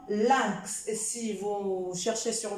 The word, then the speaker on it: lynx: c'est le 1 ici le y c'est comme le i mais lui aussi avec un N je prononce 1 1 comme lynx si vous cherchez sur